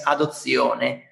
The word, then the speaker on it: adozione: Yes, it is, but the sound is not the same, because in Italian it's adozione, okay?